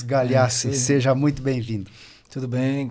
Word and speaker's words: Galeassi: Soube agora a pronúncia correta, porque eu sempre chamei ele de Adi, mas é Adi Marcos Galhaço.